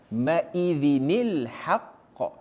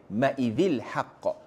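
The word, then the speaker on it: يومئذ الحق: Tanwin bertemu Hamzah wasal. Kita kena ubah sikit cara bacaan dia. Ini bukan salah penulisan ya. Ini hukum tajwid. So bila anda nampak tuan puan-puan anda kena baca maizinil haqqa. Bukannya maizil haqq.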